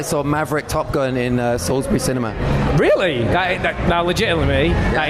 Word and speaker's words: Salisbury: So I'm here with Salisbury. Is that right? Is that right? Yeah, I get many pronunciations.